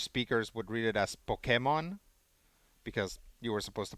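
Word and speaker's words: Pokémon: not pokemon but um in spanish that accent means that's where the stress for the word needs to go so um when pokemon first came out spanish speakers would read it as pokemon because you were supposed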